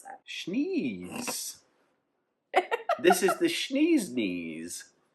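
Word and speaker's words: Schnee's: Schneeze. This is the Schneeze Knees from Bozeman, Montana. It sounds like you're sneezy.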